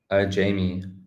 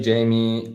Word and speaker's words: Jaime: Jaime. So you can say Jaime, or in Spanish it's Jaime.